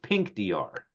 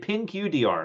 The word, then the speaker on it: Pinqdr: have the pronunciation correct I think it's pink Dr right it's not okay because I did I did pin QDR I'm like what does